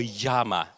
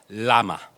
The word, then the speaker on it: Llama: I pronounce that name is it llama Or Yama as in Spanish he said Lama Okay so llama as the inventor says okay and um we